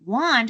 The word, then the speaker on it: want: Oh, we'd expect to see an O, but the word want is spelled with an A.